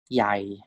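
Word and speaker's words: ใหญ่: This is pronounced as Yai.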